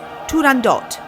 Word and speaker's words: Turandot: of the opera is Turandot, with a hard T at the end?